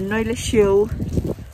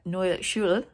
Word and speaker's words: Neue Schule: And I was going to talk to you about the Neue Schule. I've just worked out how to say it correctly. I've been calling it Neue Schule all my life. Neue Schule bit.